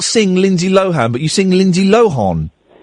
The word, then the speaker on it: Lohan: Can you sing Lindsay Lohan, or do you sing Lindsay Lo-horn?